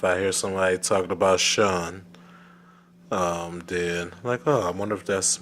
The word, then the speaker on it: Shun: Also want to send a special shout out to Shim. What's up, Shim? Saying his name wrong the entire time. It's actually Shun. It's Like S-H-U-N. Shun.